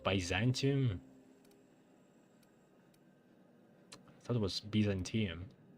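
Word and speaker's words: Byzantium: That's how it's pronounced. Baantium.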